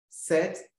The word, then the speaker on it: ce: So se, S-E, se, is pronounced se, is used for masculine singular noun, which means this or that.